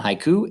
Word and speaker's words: haiku: syllable so for example taking the word haiku so it's hai ku so you kind of notice how there's like two parts to it hi and then ku so i say those two parts in you know one breath for each part so it's made of two syllables all right so haiku